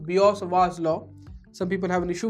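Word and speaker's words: Biot–Savart law: in the shepherd's pie it severed slope actually pronounced biot-savart law some people have an issue with that so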